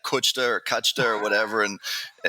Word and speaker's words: Kuchta: Bratislava, and I'm like, how do you say my name? And she's like, oh, it's Kuchta, you know.